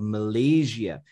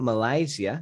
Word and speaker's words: Malaysia: say that in spanish he absolutely nailed the pronunciation of malaysia it's not malaysia as many spanish people spanish speakers usually say it's malaysia so this guy he